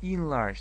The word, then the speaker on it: enlarge: обратить внимание, например, на, не пишется, смотрите, en, да, n, large, но читается in large, это in, звук in, in large, да.